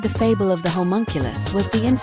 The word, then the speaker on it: homunculus: But thanks to some weird magic of a homa humanko. Uh homunculus was told boomstick the correct pronunciation.